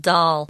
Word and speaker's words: Dahl: Roald Dahl. Dahl is kind of different too, actually. Just say it like D-O-L, like a baby doll.